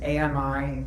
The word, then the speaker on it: Ammy: It's Am I uh pronounced kind of like Tommy without the T.